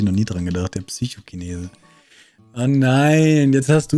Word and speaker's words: Psychokinese: Mit deiner Aussprache von Chinese, immer wenn ich die Attacke Psychokinese lese, habe ich durch dich den Psychokinesen im Kopfkino. Es heißt aber Psychokinese. Da habe ich noch nie dran gedacht, der Psychokinese.